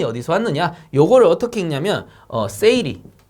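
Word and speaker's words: 整理: 이거 뭐냐면은 일본어예요. 일본어. 일본어로 요렇게 읽는다라는 거예요. 그래서 정리라는 거 일본어로 세이리, 그 다음 정돈이라는 거 세이톤, 그 다음에 청소, 세이소, 청결, 세이케츠, 습관화를 시치케 요렇게 부른답니다. 일본에서는.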